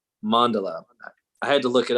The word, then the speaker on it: mandala: how to pronounce it at first I thought it was like Mandela like Nelson Mandela or something but mandala I had to look